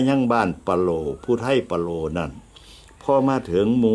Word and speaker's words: ปะโหล่: โหล นี่ มี ซื้อ ที่ ถูก ต้อง เป็น ภาษา ภูไท ออก เสียง ว่า ว่า โล่ มี ความ หมาย ว่า